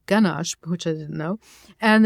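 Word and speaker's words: ganache: a yish word but it's actually a German word and it's pronounced ganash which I didn't know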